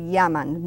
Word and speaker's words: llaman: So ellos se llaman and ellas se llaman. Notice the double L sound on those words. Little difficult. It's like a Y on the word in English, yes.